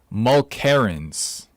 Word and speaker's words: Mulkerrins: Mulkerrins.